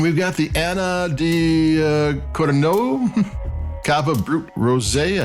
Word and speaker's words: Codorniu: And we've got the Anna di Codorniu Cava Brut Rosé. I could have made the name wrong. Codorniu. It's Catalonian.